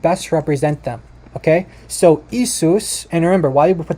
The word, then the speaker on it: Jesus: the the the the J is actually a y so yeus okay in German this